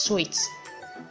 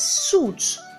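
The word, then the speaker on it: suite: pick four for instance su ite su ite is pronounced as sweets sweets but some pronounce this word as soot whereas it is pronounced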